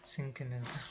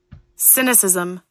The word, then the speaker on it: cynicism: Yeah, synchronism. How do you say that word? Cynicism.